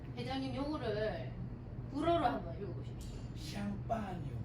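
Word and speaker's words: Champagne: 샴파뉴. 아 대단합니다. 박수. 발음이 참 좋습니다. 그다음 요게 이제 영어로는 샴페인이고 아까 눈치챘겠지만 샴페인이라고도 하다가 쌍파뉴라고도 하고 그러죠. 같은 말입니다. 그래서 불어로는 쌍파뉴고 영어로는 샴페인이라고 발음을 하면 됩니다.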